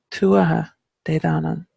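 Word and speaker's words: Tuatha Dé Danann: And when the emphasis is placed on the wrong syllables, it, even if the specifics of the pronunciation changes between the dialects, it's the emphasis and the flow to it that can be quite jarring to somebody who speaks the language.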